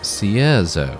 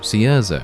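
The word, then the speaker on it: Cierzo: according to this woman the way that you pronounce the town's name is Caesar Caesar okay well my bad my bad if you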